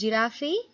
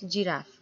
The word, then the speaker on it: giraffe: the giraffe yes children that's how you pronounce giraffe it's not giraffy it's giraffe okay so he invited